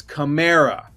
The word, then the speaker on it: Kamara: set the record straight is it Kamara or Kamara and he said he looked into the camera he said it's Camara it is Camara he said it he has never been on camera saying it's Kamara so he had to